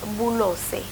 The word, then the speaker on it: Blose: No, but then okay, when I was growing up, my grandfather told me it was Bulose.